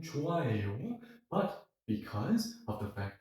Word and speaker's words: 좋아해요: plus the fact that if you see an H sound somewhere in the middle of a word, it's practically silent.